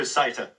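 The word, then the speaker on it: satyr: the case of the i prefer sata to be honest this is a person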